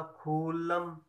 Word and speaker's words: खुल्लम: ख ख में छोटे उ की मात्रा, क्योंकि खु कम समय के लिए पढ़ा गया, खु। यदि खू होता खुल्लम तो बड़े उ की मात्रा लिखी जाती, है खुल्लम, यानी कम देर तक उच्चारण है खुल्लम।